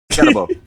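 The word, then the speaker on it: Skattebo: How you pronounce that man's name? Scatterbo.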